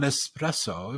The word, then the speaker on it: espresso: you know and and one of them was on espresso because there's no X in espresso yes my favorite coffee